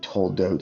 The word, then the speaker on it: toldot: You can see that I'm telling you the truth, that it's toe and oat, because you can see that those are the same letters.